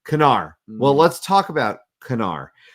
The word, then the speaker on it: Knarr: The Nerd Shelves left, but this game is pronounced Knarr. Knarr.